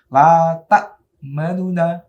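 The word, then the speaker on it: تأمنّا: Jadi bacanya kalau ikhtilas itu la ta'manuna. Nah, cepat. La ta'manuna. Nah, gitu ya. Jangan terlalu jelas. Kalau terlalu jelas namanya bukan ikhtilas.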